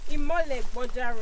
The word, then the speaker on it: Imoleboja: Did I pronounce that correctly? Yes. Imoleboja rock shelter.